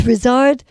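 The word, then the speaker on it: Ryszard: But it's Rizard Kosabutsky.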